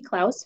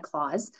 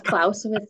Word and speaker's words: Klaus: So Klaus, very good. You guys did pronounce it correctly. This time of the year, you get a lot of claws, but it is Klaus with the K there.